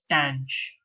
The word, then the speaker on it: tanh: over X DX and the way you pronounce this is tan CH so but before we